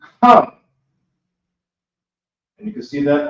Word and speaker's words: Ham: So you have a Ha, then you have a Ma. It's connected. It's pronounced Ham.